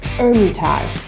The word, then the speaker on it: Hermitage: Rose Hermitage. A couple of interesting ones about this. Hermitage has a silent H, so it's Hermitage. And Rose, kind of have to growl your R on that one. Rose Hermitage.